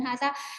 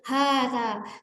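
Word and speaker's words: هذا: Kita nggak membaca hadza, tidak seperti itu, tapi hadza.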